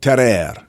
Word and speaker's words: Tarrare: to tell you about ter ter ter it's a French word I'm I'm trying to pronounce it authentically ter ter so ter I'm guessing it has